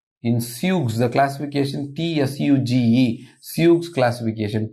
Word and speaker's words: Tsuge: If it involves only flexor digitorum profundus, this is called in Suge, the classification TSUGE, Suge's classification. T is silent, pronounced that as Suge, Suge's classification.